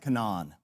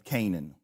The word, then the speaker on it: Canaan: Gad lived in, he pronounced it Canaan, but it's Canaan.